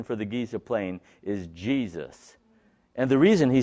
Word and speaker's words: Giza: states that the pronunciation of it being called Giza is a mispronunciation that in fact the proper pronunciation for the Giza plane is Jesus and the reason he said that is because